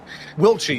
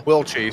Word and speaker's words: Wilkie: Joshua Wilkie, or as Guido wants us to call him, what was it, the pronunciation that we agreed on? Wilchie, yeah, there we go, Wilchie.